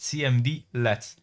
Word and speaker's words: cmdlet: As previously mentioned, PowerShell commands are known as cmdlets, pronounced cmdlets.